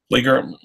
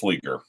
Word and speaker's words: Flieger: Flieger? Well, I don't know. That's really a question that should be given to Caseback Watches channel, because he is German. But I've always heard it pronounced Flieger.